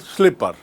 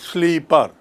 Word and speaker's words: slipper: in English is called slipper now see the spelling s l i double p e r slipper it is pronounced as slipper you pull slipper you don't pronounce it sleeper a slipper just make